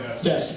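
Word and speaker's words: です: It's written D-E-S-U in English, but it's pronounced des.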